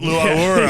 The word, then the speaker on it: Laura: Is that how you pronounce it? Laura.